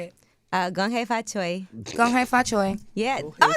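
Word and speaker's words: 恭喜發財: Gong hei fa choi.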